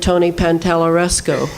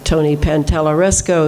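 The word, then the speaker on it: Pantalleresco: Now, the heavy metals, I have to recommend Tony Pantalaresco. P-A-N-T-A-L-E-R, oh wait, T-A, wait a minute. No, I couldn't say his name for five radio shows. Now I can at least say it. Pantaleresco, Tony Pantalaresco in Ontario, Canada.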